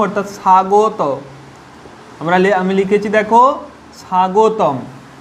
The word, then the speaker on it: স্বাগতম: দেখো, যদি দন্তস্বর সঙ্গে বটা নাও থাকে, বটা যদি আমরা তুলে দিই তাও কীরকম উচ্চারণ হবে? সা। আর দন্তস্বর সঙ্গে বটা থেকেও দেখো কি উচ্চারণ হচ্ছে? সা। অর্থাৎ বফলার এখানে কোনো উচ্চারণ হচ্ছে না।